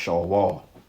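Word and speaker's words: Sheol: be the Greek way of saying it but show all which means the pit or the grave okay in the Hebrew which is pronounced Shaw wall okay which means hell but it's not talking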